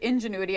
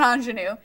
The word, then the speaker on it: ingenuity: workor of on genuity wait Ingenuity I always say it wrong it's not anenu uh you may have